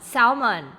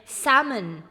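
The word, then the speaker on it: salmon: คำ ว่า South non สาว มัน แต่ ที่ จริง แล้ว นะ คะ เรา จะ อ่าน ออก เสียง เป็น zalman zalman อาเรา จะ ไม่ อ่าน ออก เสียง ตัว L นั่น เอง นะ คะ เนี่ย เรา จะ ไม่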